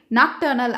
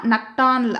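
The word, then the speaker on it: nocturnal: இந்த வார்த்தையை நம்ம பார்த்ததுமே நாக்டர்னல் அப்படின்னு படிப்போம். ஆனால் கரெக்டான ப்ரொனவுன்சியேஷன் பார்த்தீங்கன்னா நக்டானல் அப்படின்னு படிக்கணும்.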